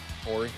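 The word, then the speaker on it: Horry: Great block, Robert Ory. Ori, however you pronounce his name. No H. Oy. I mean, there's an H, but you don't say it.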